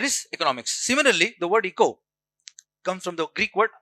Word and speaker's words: eco: Okay, pronunciation is eco, not echo. Don't pronounce it as echo. Okay, remember this. This is common mistake people do. They pronounce it as echo. That is wrong. This is eco.